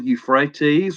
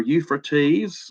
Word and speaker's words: Euphrates: of rivers and then the fourth is the Euphrates or Euphrates I've heard it pronounced both ways and this also plays into